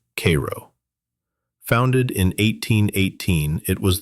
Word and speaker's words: Cairo: Down at the very tip of Illinois, where the Ohio and Mississippi rivers meet, sits Cairo, pronounced Cairo.